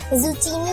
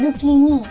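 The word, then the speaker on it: zucchini: English में जुकीनी कहते हैं, जुकीनी, लेकिन अक्सर लोग इसकी प्रोनाउंसिएशन मिस्टेक में इसे जुचीनी कहते हैं। करेक्ट प्रोनाउंसिएशन है जुकीनी, जुकीनी।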